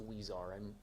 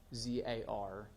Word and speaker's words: Huizar: matter is Elias, and I believe the last name is pronounced Huizar. I stand willing to be corrected if anybody wants to correct me on that. I believe it's Huizar. It's Huizar, and those are the